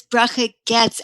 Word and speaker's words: Bracha Goetz: okay my name is bracha getz actually we don't pronounce the oh so it's brooke you're